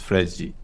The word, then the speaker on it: Fred: Fernandes I like Fred's Fred's Brazilian pronun or Portuguese pronunciation is fredi fredi you when you he